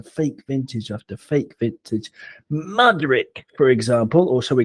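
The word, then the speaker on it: Mudryk: Mudrick, for example, or shall we call him Shitrick? Or if we're going to use the Ukrainian pronunciation, it would be Moodrick, in which case we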